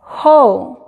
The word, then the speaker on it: whole: Whole. ¿Se fijan? Whole. No se pronuncia la W para nada.